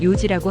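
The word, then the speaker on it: 四時: 예를 들어 4시를 말할 때는 요지라고 하고 7시를 말할 때는 시치지 또는 나나지라고 할 수 있습니다.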